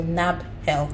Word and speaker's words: Nabhel: search for nabel so my name is spelled n a b h e l so NAB help okay um you can